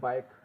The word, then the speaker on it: bike: BIKE बाइक, यहाँ भी क्या है, क बोल रहा है।